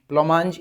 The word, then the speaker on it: blancmange: चौसर उसको बहुत प्रेज करता है, और स्पेशली इस ब्लोमांज, ब्लोमांज इसकी प्रोनाउंसिएशन है, लिख देता हूँ वर्ड, है ना।